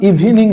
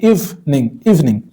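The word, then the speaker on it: evening: ওকে, এটার উচ্চারণ ইভিনিং নয়, ইভিনিং।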